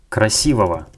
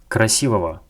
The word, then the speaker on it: красивого: And if we decided to use this Russian adjective in the genitive case, we pronounce it like "красивого", "красивого".